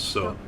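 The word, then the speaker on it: そ: Pronounce it as So.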